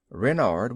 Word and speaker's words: Renard: King Renard I fourth Renard with the accent on the ren what's Ren asked button